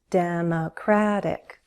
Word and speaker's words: Democratic: Democratic. Democratic. Primary stress is on the third syllable. Democratic. And I'm flapping my T, it sounds like a D.